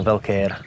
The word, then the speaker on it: Velkeer: Takže preto to vyslovujem Velkér. Velkér. To sa po maďarsky číta.